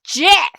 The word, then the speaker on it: GIF: I'm telling you, that's pronounced GIF. You know, like the peanut butter the creator said.